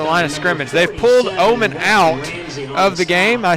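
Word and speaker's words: Ohman: And so Omen, it's spelled O-H-M-A-N, could be otherwise said as O-Man.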